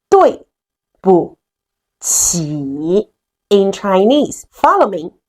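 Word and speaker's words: 对不起: It's called 对不起 in Chinese. Follow me. 对不起对不起对不起.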